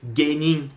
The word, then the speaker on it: genin: Vocês não vão ler, por exemplo, genin. Vocês vão ler genin, genin.